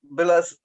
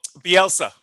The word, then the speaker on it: Bielsa: And Marco Billas, how do you say the name? Sorry, Billis, the coach of Leeds, Leeds. Oh, Bielsa. Bielsa.